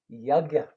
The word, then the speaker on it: yajna: yajna means sacrifice, and it's spelled Y-A, basically G or J, N-A. And the G or J is more or less silent.